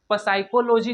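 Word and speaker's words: psychology: उसी प्रकार इसको साइकोलॉजी नहीं पढ़ेंगे दोस्तों, क्योंकि पी साइलेंट है, इसीलिए हम लोग इसको क्या पढ़ेंगे, साइकोलॉजी।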